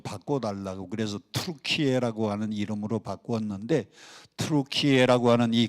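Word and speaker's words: Türkiye: 터키 그러니까 추수감사절 때 잡아먹는 칠면조 터키 그거하고 발음이 같다고 나라 이름을 좀 바꿔 달라고 그래서 트루키에라고 하는 이름으로 바꾸었는데 트루키에라고 하는이 글자는 터키 사람들의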